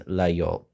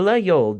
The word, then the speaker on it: Laguiole: And while no one can truly agree on the proper pronunciation, the most frequently heard to me is Laguiole.